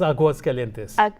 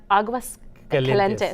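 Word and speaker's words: Aguascalientes: It's Aguas Calientes. Aguas Calientes.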